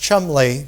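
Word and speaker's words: Cholmondeley: And it's interesting because when a man named Thomas, it's pronounced Chumley, but it's spelled Chomandale, when Thomas Chumley came from England to Concord, Massachusetts with letters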